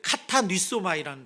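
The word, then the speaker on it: κατανύσσομαι: 이 찔렸다는 단어가 이 발음이 좀 어려운데 카타니소마이라는 단어예요.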